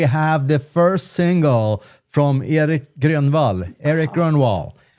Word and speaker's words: Grönwall: My name is Mattias, and today we have the first single from Erik Grönwall. Erik Grönwall. Erik Grönwall is the way you pronounce it in Swedish.